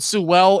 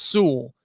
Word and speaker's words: Sewell: i i i know i've said sue well in the past i think it's actually pronounced sewell i might be wrong i don't know but